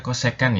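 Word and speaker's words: kosekan: samping seperti itu berikutnya CSC itu bacanya cosecan Ya kok second itu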